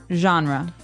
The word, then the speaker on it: genre: We say genre. Genre. Or genre. It kind of sounds French. Is it French? I think it comes from French. Uh it's a g e word, so genre. It's a soft soft sound.